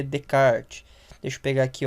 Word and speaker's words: Descartes: Se escreve Descartes, né, em português, mas se lê Descartes.